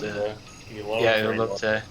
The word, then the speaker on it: elote: I'm gonna pronounce this horribly. It's elote.